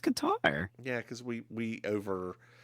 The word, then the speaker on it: Qatar: of Qatar okay yeah it's pronounced catter but I didn't know that I've only ever heard it pronounced Qatar yeah because we we